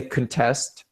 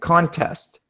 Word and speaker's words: contest: because it's a verb we say contest for the verb and contest for the noun and you guys both